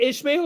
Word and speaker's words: Ishmael: Maybe if I were drinking a little bit, Is it Ishmael or Ismail? it's Ishmael with an H.